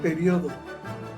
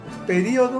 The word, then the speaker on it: periodo: Donde hubo un cambio que se eliminó, o se puede poner o no el acento, en la palabra periodo. Periodo o periodo. Acentúas en la I o puedes no hacerlo.